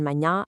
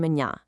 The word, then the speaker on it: manhã: It says, "Practice the nasal sounds in manha and janta as they are distinct in Portuguese." I literally cannot emphasize this enough, guys. Those nasal tones where you're basically forcing the air up through your nasal passage instead of just straight out of your mouth.